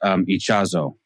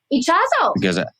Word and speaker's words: Ichazo: By the way, the guy's name should be pronounced Ichazo. Ichazo. Because I looked him up and he's Bolivian, so that's Spanish.